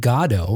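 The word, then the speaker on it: Godot: It turns out Becket was okay with anybody pronouncing the name of the play, however they did, but he pronounced it pronounced it Godo. And if you're familiar with the play, the fact that you, you know, emphasize the God part of it makes sense because there are some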